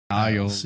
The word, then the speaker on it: Ailes: Well, while you do that, the real life sexual harassment allegations brought against Roger, I don't know how to pronounce his last name, Ailes. Isles.